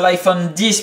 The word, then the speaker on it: iPhone X: 15h et des bananes l'iphone os x iphone 10 puisque on prononce comme ça apparemment l'iphone 10 vient d'arriver